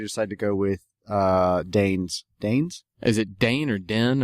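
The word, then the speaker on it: Dehn: Dane's? Is it Dane or Den or... it's D-E-H-N. It's Dane. It's Dane.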